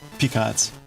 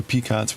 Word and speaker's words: picot: a hell of a uh a few peacots with your crotchet. The T is silent like crotchet.